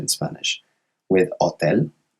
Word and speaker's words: hotel: With hotel, it's a silent H. So we never pronounce the H in Spanish, which is why it's LE.